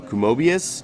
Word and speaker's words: Kumobius: Hey guys, we're here at GDC and we're with Tom from Kumobius. Do I pronounce that right? That's correct. Kumobius?